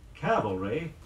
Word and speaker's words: cavalry: very calm about it many people confuse the Psalms in the words Calvary CA L ve ry the site of Christ's death and cavalry ca va l ry troops on horseback here are sentences illustrating